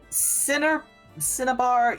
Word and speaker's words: cinnabar: It's like cinnamon, except instead of mon, it's bar, so B-A-R. Okay, thank you. Cinnabar, you know it's a kind of red stone.